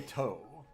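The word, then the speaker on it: Ptoh: I always say toe. Just ignore the P.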